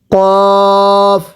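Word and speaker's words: ق: এরপরে কফ, সবাই পড়ব কফ, কাফ। তাহলে যেটা নক্তা আছে এটাকে কিভাবে পড়তে হবে কফ, কাফ।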